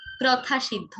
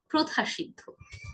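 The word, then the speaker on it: প্রথাসিদ্ধ: প্রথা সিদ্ধ নয়, উচ্চারণটি হবে প্রথা সিদ্ধ।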